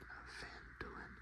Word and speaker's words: Phandalin: Times were good, and the nearby human town of Phandalin, pronounced Phandalin, prospered as well.